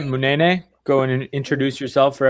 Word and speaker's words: Munene: Just think Munene. There you go.